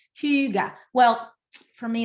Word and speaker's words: hygge: and she was like it's not hygge it's huge well for me it's